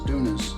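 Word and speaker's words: tunas: prickly pear halves uh or otherwise known as dunas spelt like tuna fish but it's pronounced tuna i like it like it's got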